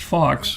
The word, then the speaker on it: Fawkes: Fake was Guy it Anna Faux who was part of the apparently it was really spelled F-A-U-X but pronounced Fox because they're not French.